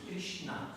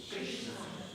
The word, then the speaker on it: Krishna: Maar een puntje onder de R, dan wordt er in het Sanskriet automatisch een I uitgesproken. Dus we krijgen een kri. Een puntje onder de S, dan wordt er een sh. En een puntje onder de N, dan wordt die N benaderd. Krishna.